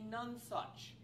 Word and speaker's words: nonsuch: As it turns out, by the way, I found out what a nonsuch, rhymes with touch, what a nonsuch is. A nonsuch is an exemplar of the best of something.